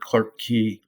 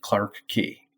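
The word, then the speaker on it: Clarke Quay: it on tour buses I've heard Clark key and it's spelled qu a y and they call it Clark key so apparently there's a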